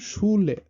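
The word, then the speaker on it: Schule: এটা sounds like SH, আর যেটা বাংলাতে হয় স, তালব্যস্যর মতো উচ্চারণটা হয়, যেমন শুলে।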